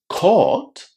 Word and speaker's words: court: But pay attention because court and coat are 2 completely different words. Court is pronounced with a long O.